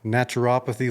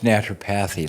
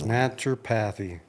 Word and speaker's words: naturopathy: is the owner of naturopathy Lane do I pronounce that right no it's naturopathy naturopathy well that shows you